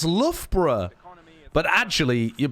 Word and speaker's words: Loughborough: They'll be like, oh, you're pronouncing it Luga Baruga, you silly Billy. That's Loughborough.